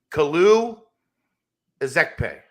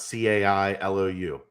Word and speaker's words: Kalu Ezekpe: Kalu Ezekpe, I think, is the proper pronunciation. Is it? Yeah, it is, Aaron. It's not Cailou.